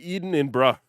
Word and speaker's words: Edinburgh: You're eating in bruh. There you go.